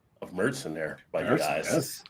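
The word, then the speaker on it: Märzen: I haven't cracked it open yet, but I do appreciate the pronunciation of Merson there by you guys. It's not not like Marsen like a lot of Americans.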